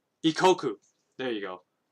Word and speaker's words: Ikkoku: It was called Maison Ikono. Ikoko, sorry. Is it Ikoko or Ikono? Let me look it up. Make sure I'm not mispronouncing it. There's an anime. It's called Ikoku.